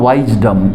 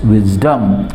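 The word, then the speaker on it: wisdom: ई हट जाता है एंड it become विजडम नॉट वाइज डम इट्स विजडम वाइज विजडम then there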